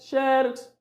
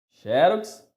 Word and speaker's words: xerox: briga tanto né xerox xerox é a pronúncia correta é assim é na penúltima sílaba que nós vamos colocar a sílaba mais forte xerox e kubrick é proparoxítona